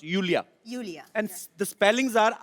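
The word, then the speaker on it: Iulia: pronounce Yulia. Yulia. And the spellings are I-U-L-I-A. So I Thank क्यों God मतलब? you know. I mean, why I? Thank God. Everyone is calling me Lulia, but Lolia I like because it's coming from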